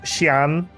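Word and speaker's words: Xian: X is pronounced as a in Mandarin. Yeah, like Shian. X I A N.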